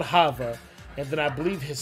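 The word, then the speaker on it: Thava: The daughter's name was Hava. Hava, pronounced with the H, but it was spelled with the A, T-H. So it was T-H-A-V-A. But she was called Hava.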